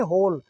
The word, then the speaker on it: whole: तो होल होता है, और अगर W लग गया तो कोई फ़र्क नहीं पड़ता, तो भी उसको होल ही बोलेंगे, W को साइलेंट रखेंगे, बोल।